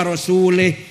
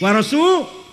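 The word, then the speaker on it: وَرَسُولُهُ: barium Minal musyrikina wa rasulih Allah tidak melindungi orang musyrik dan tidak melindungi Rasulullah eh salah yang benar bacanya innallah barium Minal musyrikin ah jangan warasulih warasulah artinya apa Allah tidak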